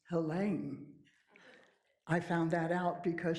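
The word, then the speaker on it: Helene: So for as long as I've known about her books, I've called her Helen. Turns out it's pronounced Hela.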